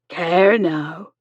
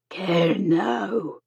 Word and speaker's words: Kernow: "Kernow?" "Kernewek?" He imperfectly echoed the Cornish word for the county. Mary shook her head. "Kernow." She repeated, emphasizing the final syllable.